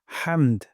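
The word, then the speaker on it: حمد: রব্বানা ওয়ালাকাল হামদ। এখানে হামদু আছে, এখানে আমরা ওয়াকফ করব। অথবা হামদুও পড়তে পারি, তবে ওয়াকফ করলে সুন্দর হয়। হামদ গলার মাঝখান থেকে হা উচ্চারণ করব।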